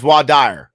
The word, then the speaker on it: voir dire: Vinny says voir dire. All right. It's pronounced voir dire.